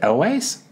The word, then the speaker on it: Elwes: Now, how do you say his last name? Is it Elways?